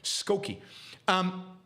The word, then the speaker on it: Skokie: I mispronounced the town in Illinois. Skokie.